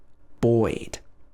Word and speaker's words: buoyed: So here we're pronouncing the sound oi, o plus I, o I, buoyed, buoyed.